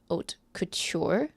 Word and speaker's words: Otkutyr: The first one is called Haute Couture. It's spelled weirdly. Otkutyr. You have to say it out loud. It sounds like haute couture, right?